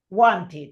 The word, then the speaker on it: wanted: El pasado de want es wanted. Wanted. ¿Ves? Ahí se pronuncia.